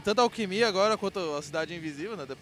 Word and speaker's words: Alqmya: com a galera da banda alquimia é assim que se pronuncia alquimia exatamente que o Júlio é